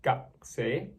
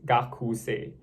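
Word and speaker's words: 学生: the actual writing is gakuse. But similar to like desuka, you don't really pronounce the U because it sounds a bit awkward. So instead of saying gakuse, you can just say gakse.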